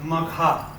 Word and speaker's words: Magha: because female names always have a long spell. So Magha.